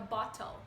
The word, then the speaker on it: bottle: Então, fica bottle, tá? No inglês, o T vira um som de R, então fica bottle, tá?